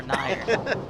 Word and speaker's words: Nauer: So not Newer, not Nauer, Nair.